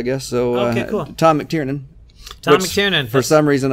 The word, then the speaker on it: McTiernan: The O and the I are obviously the 2 big obstacles in my name. I have it phonetically spelled out on the card up front now, so I can. It's McTiernan. Yeah. And but it's the NAN on the end that's getting me instead of just the AN.